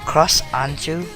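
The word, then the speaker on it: Cross Ange: Cross Anju, I believe is how it's pronounced, but it's spelled A-N-G-E, is a completely wasted opportunity.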